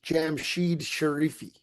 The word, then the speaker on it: Jamshid Sharifi: And I looked up an interview with him where he's introduced as Jamshid Sharifi. So that's how you say it.